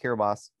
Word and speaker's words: Kiribati: announced the temple in kiribos which is looks like it should be spelled Kiribati but it's pronounced kiribos and which is the